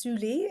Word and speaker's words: Syli: It's pronounced Suli. It's a Finnish word, and it means a measure of depth or an embrace.